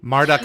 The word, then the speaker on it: Marduk: himself out to be Marduk is also a common pronunciation ah okay cuz someone